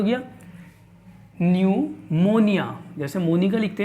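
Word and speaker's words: pneumonia: देखिए सबसे पहले नंबर पे लिखा हुआ है क्या दोस्तों, न्यूमोनिया, जिसके अंदर पी साइलेंट है।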